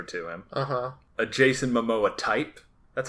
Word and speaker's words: Momoa: A Jason Momoa type.